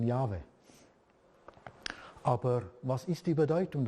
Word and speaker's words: Jahwe: Wir wissen es natürlich aus dem Hebräischen, es ist dieser YHWH, ausgesprochen Jahwe.